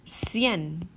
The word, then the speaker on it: cien: my hard cut sound if I want my soft sound then my C is going to be followed by an e or an i okay for example el